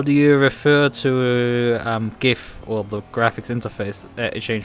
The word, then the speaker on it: GIF: I know precisely know these are the two pronunciation and it's GIF it has always been GIF